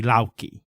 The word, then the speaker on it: Loki: she sometimes yeah right so in modern Icelandic which is largely unchanged from medieval Icelandic you would pronounce Thor and Loki lauki right and then Odin would be Warden um Loki's family lineage